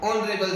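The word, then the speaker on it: honourable: आपको पता चलेगा कि जो इसमें जो एच होता है वो साइलेंट लेटर है, जो फर्स्ट लेटर साइलेंट है, तो इसकी वजह से साउंड किससे प्रोनाउंसिएशन होगा, ऑनरेबल से, और जो कि कौन सा साउंड होता है, वोवल साउंड।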